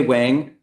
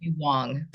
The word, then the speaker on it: Wang: uh is way Wang the correct pronunciation of your name you almost got it um it is Wong yeah Wong I I